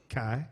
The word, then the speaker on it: Kyle: nice request, Kyle. Kai? Okay, minus the L's. Yeah, it's all right. It's all right. The L is silent.